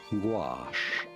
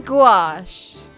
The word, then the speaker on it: gouache: How do you go about pronouncing it? Gouache. Gouache. Gouash. Gouache is designed to be opaque. It is gouache.